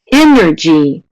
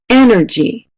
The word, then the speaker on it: energy: All right, let's go on to 5. Energy. Da. Wow, you guys are quick. Da. Energy. Which syllable is longer, stronger, higher pitched, and louder? Energy. Perfect. 100% at A, and that's what it is.